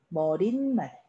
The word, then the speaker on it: 머리말: 그럼 1번 머리말, 2번 머릿말. 발음은 머릿말. 자, 헷갈릴 수 있어요.